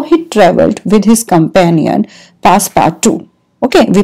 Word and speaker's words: Passepartout: This is the story of how he traveled with his companion, Passepartout. Okay, we pronounce this name here. This, I will underline this, Passepartout. Okay, we will pronounce this as Passepartout.